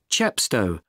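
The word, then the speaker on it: Chepstow: the coach will pick you up at 1 30 at the entrance called chapsto i'll spell that c h e p s t o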